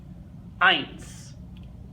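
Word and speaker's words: eins: there hey number one ice ice and what we see is that a I sound and like I said this sound that we get is an I that gives us bytes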